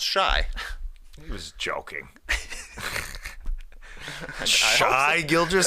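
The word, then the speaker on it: Shai: saw this shade now says his first name is pronounced shy he was joking shy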